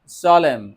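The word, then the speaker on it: salmon: thank you so much সলেম A silent হয়ার সলেম সলেম সাইলেন্টার silent সলেম ওকে বাংলাটা সহ পড়ব আমরা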